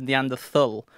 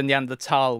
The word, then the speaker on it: Neanderthal: adult life I said neand thul but still recently I've started swapping to neand tal which apparently is like the proper German pronunciation excellent okay and and